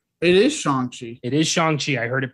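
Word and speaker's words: Shang-Chi: it's shong chi it is shanxi it is shang chi i heard it pronounced correctly so this is shinji okay my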